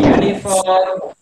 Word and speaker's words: uniform: So before that we use here in uniform we pronounce it you. Okay, so we should use here a. It's a uniform.